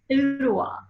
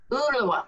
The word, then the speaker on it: Ooltewah: Ottawa. Ottawa. Can you spell it?